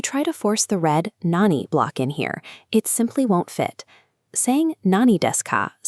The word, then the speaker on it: 何: Sometimes it's pronounced nan, and other times it's pronounced nani.